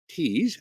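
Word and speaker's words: Tews: Also want to tell you about Val Roskkins Tease. I think I'm saying her name right. The last name is spelled T E WS but pronounced like T's.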